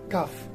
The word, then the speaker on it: cough: So this GH as a digraph produces here the sound f. So it is cuff.